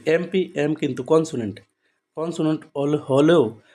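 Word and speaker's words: MP: is dash এমপি তো এমপি এম কিন্তু consonant consonant হলেও তার উচ্চারণটা কিরকম ভাবে হচ্ছে দেখো তার উচ্চারণ কিভাবে হচ্ছে এম মানটা যদি বাংলাতে লিখি তাহলে কি হবে এ ম এম এরকম করে হবে তাহলে প্রথমটা কি হবে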